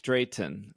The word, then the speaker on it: Drayton: go talk about Drayton uh Dre Drayton that's how you say it man what what what